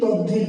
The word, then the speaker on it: তদ্ধিত: আমরা লিখছি তদ্ধিত দয়ে ধ, কিন্তু আসলে উচ্চারণ করছি কি তদ্ধিত।